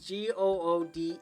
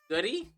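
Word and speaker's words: Goode: Uh that's spelled G O O D E. That's pronounced good. But whenever I see it, I always imagine it just says goody. I don't think that's how that works.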